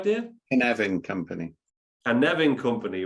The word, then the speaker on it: Carnarvon: Did I pronounce that right, Dave? Carnarvon Company.